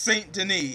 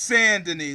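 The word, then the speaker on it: Saint-Denis: It's not pronounced Saint Deni. It's pronounced sanden like sand like sa n.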